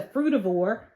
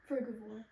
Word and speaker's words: frugivore: a pigeon it's um it's a fravor frugivore fruit frugivore how you spell it R G I O R E frugivore I thought it was fravor but frugivore meaning they eat fruit so their diet consists